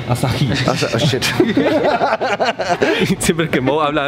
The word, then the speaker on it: Asahi: Se pronuncia Asahi. Asahi.